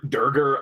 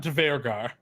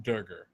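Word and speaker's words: duergar: It's not Dvergar. I know Dvergar feels really good though to say. It feels good. I'm pretty sure it's just Durgar. Is the pronunciation. Yeah. I could be wrong, but that is how I have always heard it.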